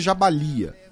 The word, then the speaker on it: Jabalia: é o principal né a pronúncia também é jabalia né mas enfim é